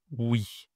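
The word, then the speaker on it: ouïe: On dit une oui la prononciation est pas simple. Enfin si, quand tu dis oui et non, c'est pareil.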